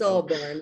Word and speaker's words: Albarn: and one of which was it's about the pronunciation of and I can't remember which one's the right one. Is it Albarn? It's Albarn.